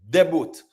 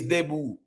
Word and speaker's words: debut: Yeah manip that's how we pronounce it you know deu even Jamaica I said deboot or whatever but a de French or whatever but I let say like the t silent made his debut de I saw the